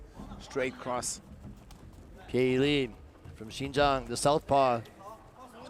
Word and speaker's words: Pieyili: speaker to read it, it's not Pie. You would see that English p i e is actually Pie. Piei Li. So, the pronunciation is obviously slightly different.